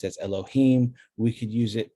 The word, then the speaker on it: Elohim: is with these vowels these vowels don't come from the word adonai they come from the word elohim and when we see it pronounced like this we are supposed to pronounce elohim as indicated in the